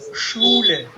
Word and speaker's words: Schule: Shool This means Schule. if you mistake this pronunciation Schule. to Schule, then it becomes this. Okay.